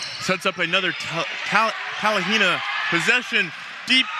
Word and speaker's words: Talihina: side if your talent and excuse me I pronounce that so wrong go ahead and say it for me Talihina there you go if you were telling Hina